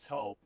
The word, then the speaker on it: Toop: No, I'm pretty sure it's Toop Insurance. Maybe Toupee. Could be Toupee. Yeah, I don't know. Or Taupe Insurance? Maybe? I don't think so. Say it right. That's T-O-O-P. That's Taupe. Oh, it's Taupe.